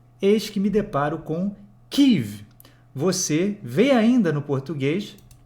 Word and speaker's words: Kyiv: Agora, todos os noticiários americanos, eu escuto normalmente noticiários de língua inglesa, só pronunciam Kyiv em vez de Kiev.